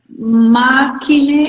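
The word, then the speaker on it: makinë: So, makine, how do you pronounce it?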